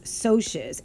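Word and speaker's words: Socs: additionally referred to as socias s o CS that does not spell socks it's a soft C and soes is short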